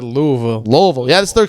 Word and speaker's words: Louisville: Koa Pete I from like how you said Louisville.